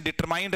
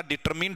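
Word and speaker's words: determined: यहीं से एक और वर्ड बना दूंगा, इसका प्रोनाउंसिएशन डिटरमाइंड नहीं होता, डिटरमिन्ड होता है।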